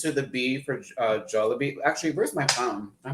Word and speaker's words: Jollibee: we supposed to mix with the spaghetti it's pronounced jollibee that texting in me is making me make sure you gotta forgive me babe that joel will be see how that goes up it's jolly bee and that would make a lot more sense